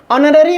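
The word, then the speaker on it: honorary: ऑनररी में H silent हो जाता है, सो ऑनररी प्रोनाउंसिएशन वॉवेल साउंड से स्टार्ट है, इसलिए एन का प्रयोग होगा।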